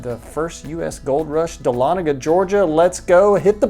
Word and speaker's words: Dahlonega: First, I'd like to give you the proper pronunciation. It's Dahlonega, Georgia, not Dahlonega.